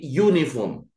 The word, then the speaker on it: uniform: Kalau di sini, ini bacanya bukan uniform, tapi uniform. Nah, ini cara membacanya adalah uniform. Karena ini adalah uniform, itu adalah konsonan, maka di situ harus diikuti bukan en.